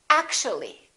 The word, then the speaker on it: actually: actual three syllables actual but if we add the l y like here this disappears and we say actually actually we don't say actually there are some more